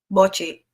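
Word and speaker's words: Bocchi: Is how's it pronounced? Bochi or Buchi? Bochi.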